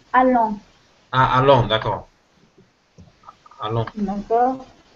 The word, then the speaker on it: allant: Alors, ça se prononce allant.